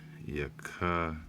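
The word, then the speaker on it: יחזקאל: Yakazakwal.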